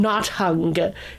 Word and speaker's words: Nothung: It's spelled like this: Nothung. So I know it's not hung or something like that.